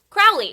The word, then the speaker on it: Crowley: The word is holy, which rhymes with Crowley. Crowley.